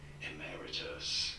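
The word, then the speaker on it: emeritus: You do want to stress the second syllable emmeritus in American English.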